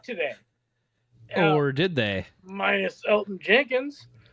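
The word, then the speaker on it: Elgton Jenkins: Minus Elton Jenkins. Silent G there Tay.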